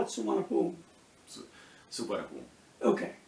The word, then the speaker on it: Suvarnabhumi: So a little bit different pronunciation, but if you're looking for it written down, what you're going to see is Suvarnabhumi. In English, is in English how they spell it.